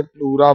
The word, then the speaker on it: pleura: नहीं किया था, PLUERA, इसे प्लूरा बोलते हैं, प्लूरा इंपॉर्टेंट है, PLEUUERA, PLUERA, स्पेलिंग गलत लिख रहा हूं, PLEURA, इसे प्लूरा बोलते हैं।